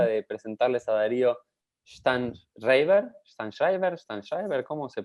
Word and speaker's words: Sztajnszrajber: de presentarles a Darío Stanschreiber, ¿cómo se pronuncia este? El Así, imposible. Steinschreiber.